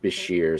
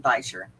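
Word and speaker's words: bichir: me it's properly Bashir, so I'm like, okay, I'll say it right, just because I haven't said it enough that I'm used to saying it the wrong way. I'm gonna say it Bisher, which is the way I heard it to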